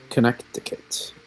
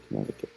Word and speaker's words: Connecticut: You would think it would be connectic though if you were just phonetically sounding out, wouldn't you? There's not really a lot of support here on any silent C. Connecticut.